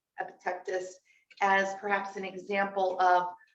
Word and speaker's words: Epictetus: Epictetus. Can you please spell that?